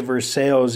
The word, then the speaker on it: Versailles: Okay, and you pronounce it Versailles even though it looks like Versailles.